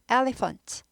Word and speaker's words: elephant: 여기서는 주어져 elephant elephant ph가 F 발음 나죠 F 발음나요 elephant elephant elephant 코끼리가 되죠